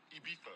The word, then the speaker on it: Ibiza: Ibiza. Yeah, it's pronounced Ibiza, actually. What's the difference? Ibiza, Ibiza.